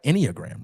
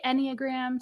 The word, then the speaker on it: enneagram: get connected to the inag am I saying that right I am saying it right inag right yeah some people say enag some people say inag oh okay yeah um